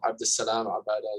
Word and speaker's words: Abdussalam Abada: Abdussalam Abada is the correct pronunciation.